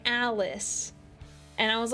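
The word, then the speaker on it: Alyss: And I always said her name was like Alis. Like that's what I thought her name was. And turns out you're supposed to pronounce it like Alice.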